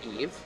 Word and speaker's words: Ève: There's an accent grave on the first E. Tends to ignore that one. Yeah, it's very French, Okay, but so I prefer to say Eve.